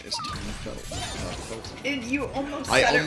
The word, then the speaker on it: Felton: Which now I know his name is Tom Felton. And you almost said it wrong. Tom Yeah. Fiddleton.